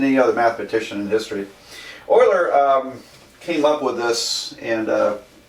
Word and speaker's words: Euler: Euler was, and I know it looks like Euler, but Germans would pronounce that Euler.